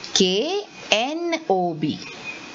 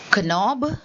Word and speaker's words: knob: is called as a knob so see like night it is knight is k-n-i-g-h-t and this is k-n-o-b so am i saying knob no i'm saying knob so the k is silent so children here in